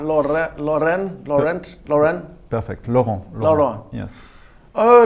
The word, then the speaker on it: Laurent: Laurent. Laurent. Yes. Oh, like the French player from Arsenal, Laurent. Similar to that.